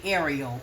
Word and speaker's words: Arielle: she didn't correct him when it comes to pronunciation of her name. So I say Arielle, okay?